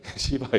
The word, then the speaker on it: 시바: 시바 여왕이라고 부르는데 시바 여왕, 제가 발음이 그게 아니라 원래 그래요.